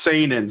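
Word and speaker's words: seinen: Brian senin s San it's pronounced San San s e i NE n this kind of sorrowful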